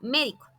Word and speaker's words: médico: Y otro ejemplo es la palabra médico. Tiene su sílaba tónica en la antepenúltima sílaba y marcamos la tilde.